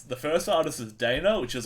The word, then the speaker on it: Dana: I'm going to pronounce the first artist as Dana, which is like D''ANA.